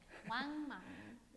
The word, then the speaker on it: Wang Mang: Entonces aquí hay un general, Wang Mang. Wang Mang. Oh, you're better than me. It rhymes with dang.